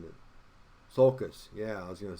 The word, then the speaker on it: sulcus: word either let me look at it i'm mispronouncing it sulcus yeah i was going to say i knew what it was but i wasn't saying right sulcus i'm sorry there's a center one and that